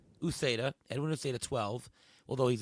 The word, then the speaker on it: Uceda: How do you pronounce his last name? Is it Ucheda? Uceda.